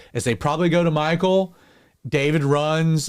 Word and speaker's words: Michal: And yes, I said it right. It's Michal.